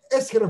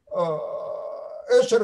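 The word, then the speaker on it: Escher: Он, Эшер – это неправильное произношение просто на этой фамилии. Да, но мы... Он, конечно, Эсхер.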